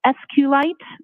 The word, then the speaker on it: SQLite: lowercase i t and sqlite uh is also commonly pronounced as SQ light so both pronunciations are acceptable now once you received